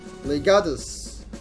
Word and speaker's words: Legatus: Legatus. That's how you pronounce it. I've been pronouncing it wrong the entire playthrough.